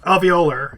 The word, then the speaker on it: alveolar: I don't know how to pronounce that, Ross. Alveolar.